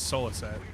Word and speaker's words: Souliset: though awesome very cool how do you say your name it's solo set but I don't remember